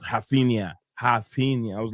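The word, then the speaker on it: Raphinha: So basically what I saying is how you would say in the way they're saying it in the Portuguese Brazilian kind of way.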